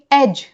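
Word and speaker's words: edge: एज में भी ड का प्रोनंसिएशन नहीं है। हम कहेंगे एज।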